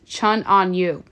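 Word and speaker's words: Chun An Yu: David Ford, Maxwell Ford, Ricky Barnes, Jonathan Berg, Sengel No, Davis Love, actually it's Chun On Yu, that's how you say his name, apologies, Andrew Long, Matt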